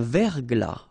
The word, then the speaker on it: verglas: Un verglas, final S not pronounced.